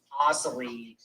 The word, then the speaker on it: Asselin: It's Asselin, idiot.